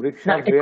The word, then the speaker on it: বৃক্ষেভ্যঃ: বিসর্গের উচ্চারণ না করলে কিন্তু হ্যাঁ। সংস্কৃত অর্থ আলাদা হয়ে যাবে।